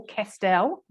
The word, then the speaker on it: Castel: So, so JayneCastel, so not Castle, Castel, .com.